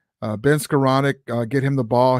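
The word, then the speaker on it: Skowronek: the field Benny Benny's he deserves his last name to be said right Ben scroll Nick um uh Ben scaronic excuse me I got so used to saying it wrong uh Ben scaronic uh get him the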